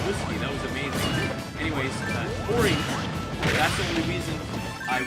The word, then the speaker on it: Tori: Tori. Like Suntory. I was like, oh, her name's Tori.